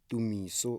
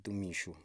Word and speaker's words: Tumiso: It's actually Tumiso and Tumisho. It depends where you're coming from.